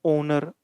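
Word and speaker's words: honour: नहीं हो रही है इनकी जो प्रोनंसिएशन है एच से नहीं हो रही है एच से आ रहा है लेकिन साउंड क्या है ओनर ओ का आर ओ का नरे बल ओ का ऑनेस्ट ओ का यानी हमें यह समझना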